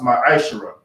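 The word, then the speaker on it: מעשר: and Malachi 3 8-10 means 10th and Hebrew and is pronounced my aisher 10% of every penny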